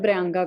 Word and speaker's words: प्रियंका: एक तो उन्हें प्रियंका का नाम प्रोनाउंस करना नहीं आता है, please learn it guys, it's प्रियंका.